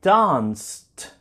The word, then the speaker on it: danced: be the same idea Ed is going to sound like t t last night I danced until 5 a.m. danced let's see if we